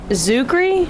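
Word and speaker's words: Czuchry: His name is Matt Zuckery. Okay. I think that's how you pronounce it.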